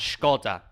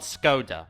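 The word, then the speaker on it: Škoda: And yes, that is how you pronounce Skoda, not Skoda.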